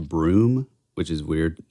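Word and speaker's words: Bruttenholm: think it's actually pronounced broom which is weird it's like a Massachusetts style spelling uh pronunciation but CLA yeah exactly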